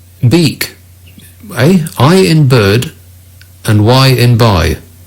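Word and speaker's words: Björk: Ronnie emails, Bajork is actually pronounced Biek, as in I in bird and Y in by. Beak.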